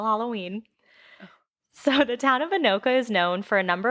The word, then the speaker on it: Anoka: website for anoka and i looked up how to spell like how to say this so i know this is right anoka i heard it there is a halloween